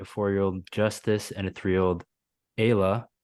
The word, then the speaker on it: Ayla: You have a 13-year-old daughter named Lizzie, a 4-year-old Justice, and a 3-year-old Ayla, pronounced like Mm-hmm. Kayla, you clarified here.